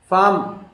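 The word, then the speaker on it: farm: Palm, pair, proud, parade, फार्म, ये are silent है यहाँ पे।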